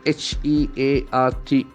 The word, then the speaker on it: hearth: You get that th sound. Can you feel that th sound? Hearts. hearth, The th is not there in our mother tongue. So as a Malayali, we struggle a lot for that. Hearth. So purposefully, we must get trained for that.